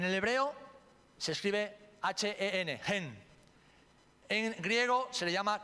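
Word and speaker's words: חן: En el hebreo se escribe H-E-N, gen.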